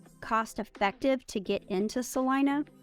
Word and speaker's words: Celina: a whole Vlog on Salina it's spelled Selena but we call it Celina I'm not real sure why but I have